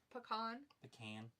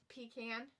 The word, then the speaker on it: pecan: Pecan. Pecan. It's pecan. I've always pronounced it pecan.